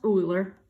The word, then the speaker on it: Euler: Okay, these diagrams, it's pronounced Euler.